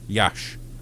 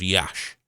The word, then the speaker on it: Iași: Iași. It's just Iași.